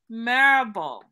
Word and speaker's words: Marable: Chef David Marable.